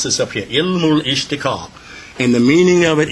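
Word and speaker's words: Ilmul-Ishtiqaq: That's really that's how we pronounce this up here. llmul-Ishtaqaaq.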